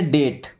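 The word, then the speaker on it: date: डी ए टी ई। तो इसे पढ़ेंगे डेट। क्या पढ़ना है? डेट। यहां पे ई साइलेंट हो जाएगा।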